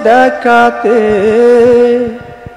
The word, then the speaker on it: দেখাতে: দেখাতে না, দেখাতে। খ হবে, তুমি ক বলছো।